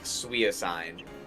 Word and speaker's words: Suicune: I will say the craziest pronunciation I've heard that I can think of right now. Suicune. Yeah. It's Suicune.